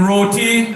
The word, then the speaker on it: roti: I will always pronounce the tea in roti.